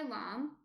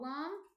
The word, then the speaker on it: lame: Yeah, it's spelled lamb like lame. Yes. Thank you, Yursi. Yes, it's spelled Lame. It's a French word, which is why it's pronounced funny and spelled funny.